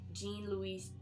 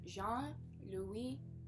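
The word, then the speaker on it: Jean-Louis: Jean Louise Trinat. I did not know how to pronounce it, but thanks to a friend I know. Shout out to London. He told me it's pronounced Jean Lu.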